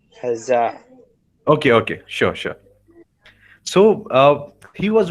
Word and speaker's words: Hazza: Sir, you And are till today, pronouncing the name wrong. It is hello. Hazza. Hazza.